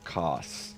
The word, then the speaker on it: Kos: And then Orphan of Kos. I guess we've learned the canon way to pronounce it is Kos, even though I like all of the other ways to pronounce it more.